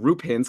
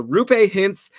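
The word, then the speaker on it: Roope Hintz: pronounce his name but apparently through pay just like Lupe the cleaning lady who George hooked up with on Seinfeld is a rooh pay hints he's riding a three-game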